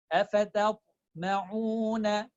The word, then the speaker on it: أفتطمعون: I'm not saying ta to. That is wrong. Ta is light. I will say it slowly, so you know how am I pronouncing it. A, fa, ta to, reaching to ta. Ta to, a, fa, ta to, ma'una. أفتطمعون. So I'm not making ma heavy, ta heavy, or fa heavy.